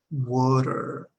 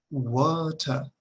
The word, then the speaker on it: water: Bueno, la diferencia es que en inglés terminamos las palabras, en inglés de Estados Unidos, terminamos este sonido, water. En el inglés británico, esta misma terminación se pronuncia como si fuera una A, al menos una A española, muy similar.